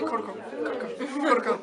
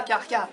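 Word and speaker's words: Krka: Donc, Plitvice, c'est Plitvice et Karka, on sait bien foutu de notre gueule, mais c'est Korko. Et pas Karka. Bah en fait, ça s'écrit K-R-K-A.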